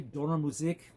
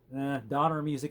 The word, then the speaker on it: Donnermusik: It's actually Donnermusik. It's German, it means thunder music, but Donner music is just fine for all of us in the English-speaking world, I guess.